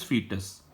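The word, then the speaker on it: fetus: The correct pronunciation is फीटस।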